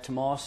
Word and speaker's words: Tomás: Tomás is Gaelic or Irish for Thomas. And you guys are used to saying awesome. All the Americans say awesome, so that's how you pronounce the last part of my name, okay?